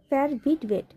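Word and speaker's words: verwitwet: গে শিডেন, ফেয়ার ভিডবেট, না এটার উচ্চারণটা হচ্ছে ফেয়ার ভিডবেট, বিধবা, ফেয়ার ভিডবে, ফেয়ার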